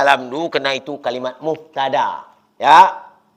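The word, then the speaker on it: الحمد: dumah muuadapan itu sama jadi harus alhamdu tak boleh alhamda kenapa kalimah itu muftada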